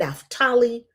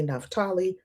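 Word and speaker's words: Naphtali: and Benjamin, Dan and Naftali or Naftali, depending on how you pronounce it. I've heard Jewish people say Naftali and in the black church we say Napali.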